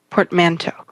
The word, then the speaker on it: portmanteau: the portman2 yeah yeah it was a to pronounced portman too oh listen play it i'm going to play it oh portmanteau what was that computer girl you wanna hear